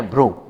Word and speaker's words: भ्रू: उ लिखी हुई है, लेकिन उच्चारण किया जाए तो ये उ की मात्रा भ की न होकर के र वर्ण की है।